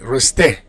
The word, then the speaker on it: rester: All right, so in for verbs ending in er, like rester, you don't pronounce the R, you just pronounce the E, rester.